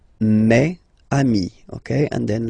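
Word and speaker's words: mes amis: plural form so it's me Ami okay and then let's be purist and make this beautiful Le between these two words Mami meami meami all right so I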